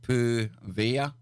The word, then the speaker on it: Poveglia: So this place, Poveglia, or Poveglia, pronounced Poveglia.